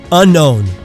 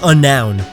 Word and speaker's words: unknown: Unknown. I've gotten many people trying to tell me that it's unnoun. If you're one of those people, stop. It's unknown. Just imagine there was a K there.